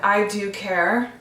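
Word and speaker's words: I Dew Care: This brand, I Do Care, like Dew is spelled D-E-W, like it dewy skin.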